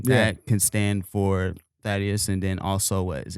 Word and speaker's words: Thaddeus: my name in the I'll be like Thaddeus and they'll be like huh fatties I mean th just got to give them the low first two letters the air pronunciation to get them proper do people say cough